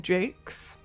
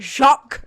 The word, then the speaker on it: Jacques: the book Red Wall by the author Brian Jakes, which that's how you pronounce his name. Jake, it's not Jacques.